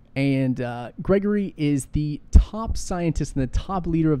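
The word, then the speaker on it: Grigory: him to Gregory and it's Gregory but it's spelled with an I so I believe it's Gregory though and Gregory is the top scientist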